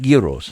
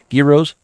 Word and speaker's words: gyros: money no you don't when you pronounce it it's it's with a y at the beginning so when you say